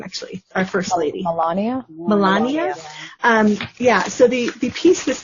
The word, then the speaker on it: Melania: Melania.